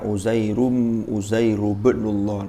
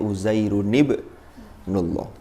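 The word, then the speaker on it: عزير ابن الله: Karena orang Arab ini sudah bacanya ya otomatis, tidak dibaca Uzairu ibnullah, tapi Uzairun ibnullah.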